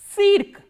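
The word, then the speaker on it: цирк: How will you pronounce this word? Cirque. Cirque is circus. So, let us revise all these words once again. Stancia, which is station, Tsitok, flower, Tsyentr, center, and cirque, circus.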